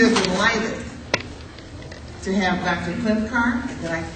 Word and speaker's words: Klincar: hum me we are delighted to have Dr clinar that I pronounce that correctly yes ma'am but I usually